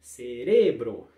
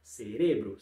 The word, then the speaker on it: cerebro: você vai dizer aí cerebro ser Essa é a segunda em espanhol em português né para falar para o cérebro limpar ao cerebro segunda aí segunda sílaba pronunciar forte próxima alergia como é